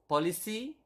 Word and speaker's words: polisi: Police officer is polisi, just simply policy.